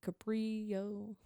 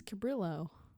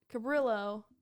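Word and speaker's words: Cabrillo: he teamed up with the coordinator of the capro Maritime Museum very good here I looking up according to online pronunciation Lady it's cabillo so we don't pronounce it I was wrong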